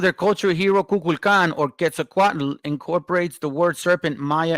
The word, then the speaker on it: Quetzalcoatl: And by the way, I've learned how to say the actual pronunciation. You know, thanks to the brother right here, VTC. By the way, thank you, bro. I do want to say that it's called Nahuatl. Okay, Quetzalcoatl, not Quetzalcoatl. You know what I'm saying?